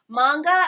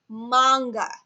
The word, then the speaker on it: manga: But one key thing that everyone should remember is that it's pronounced manga. A lot of people say manga and it's wrong.